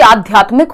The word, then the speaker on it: आध्यात्मिक: और आध्यात्मिक में एक तो आधा ध आता है, दूसरा छोटे की मात्रा आती है क्योंकि मीक नहीं है।